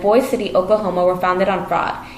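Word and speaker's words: Boise City: through lies cities like boyce city oklahoma were founded on fraud even the name itself was a lie the promoters pronounced a boy city from the french word le boys which means trees but in no man's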